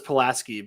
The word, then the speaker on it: Pulaski: no no what so do you guys pronounce uh Pulaski County just like they do in Virginia Pulaski no no this is Arkansas we get palasa palasi well it's everybody says palaski but you add a little bit of a twang